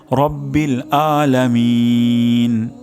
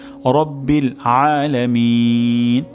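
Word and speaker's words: رَبِّ الْعَالَمِين: হবে আলহামদুলিল্লাহি তারপর আলামিন এখানে আইন উচ্চারণ হবে গলার মাঝখান থেকে তবে আমাদের অধিকাংশ ক্ষেত্রে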